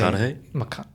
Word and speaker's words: McConaughey: I don't know how do you say McConaughey?